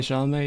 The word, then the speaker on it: Chalamet: Yeah, Chalamet.